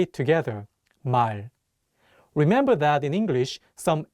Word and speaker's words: 말: The 리을 consonant is at the end of the word, so it will be pronounced as L. Let's say it together, 말.